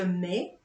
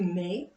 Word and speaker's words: mets: And again, for je, tu, il, elle, on, the S and T isn't pronounced.